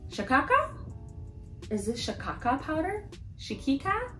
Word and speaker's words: Shikakai: It's organic Shikakai powder. So you see how you have the I at the end? Shikakai. It just flows, you know, Shikakai. So that's how you say it.